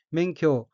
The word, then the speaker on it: 免許: 첫째 줄 오른편 첫 번째 어휘는 한자가 한국어로 면허이고 면할 면, 허락할 허자로 되어 있고 일본어로는 멘쿄라고 읽으며 멘쿄는 면허라는 뜻의 명사 또는 수루 타동사이며 뒤와 이어서 멘쿄모 나이떼는 면허도 없다라고 하는 이란 의미입니다.